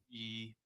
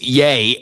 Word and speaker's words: Ye: You can't find yourself on a public broadcast calling him Ye. Ye. That's how I'm gonna pronounce it, man. It's Yay. And you know that.